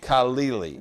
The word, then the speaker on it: Khalili: Help me say this guy's name. His name is Aman Khalili. Khalili. That's how I've heard it pronounced.